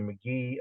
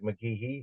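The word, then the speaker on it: McGehee: the roar branch near McGee Arkansas I know it looks like McGee it's pronounced McGee okay head right birth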